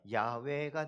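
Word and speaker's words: Yahweh: 여러분,이 여호와라는 말을 히브리어 발음으로 읽으면 야외가 됩니다.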